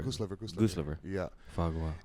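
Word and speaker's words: foie gras: Fagwa. It's a I mean it's spelled like right?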